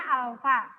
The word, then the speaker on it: alfa: Dibacanya alfa, ya.